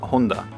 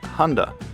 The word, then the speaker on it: Honda: In Japanese, the Honda company is pronounced as Honda. The way we pronounce the brand in English sounds like Honda, which means soldering iron in Japanese.